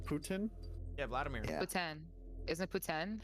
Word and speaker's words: poutine: Bro, how did you pronounce Dude. that? Putin. Putin? Yeah, Vladimir. Yeah. poutine.